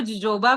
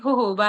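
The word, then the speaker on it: jojoba: होबा सीड्स है ना कई लोग इसको जोजोबा पढ़ रहे होंगे दोस्तों बट ये होहोबा है जे साइलेंट है तो वो जब आप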